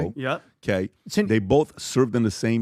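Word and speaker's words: Turo: I think it's called Toro, if I'm saying it correctly. That's correctly. Toro.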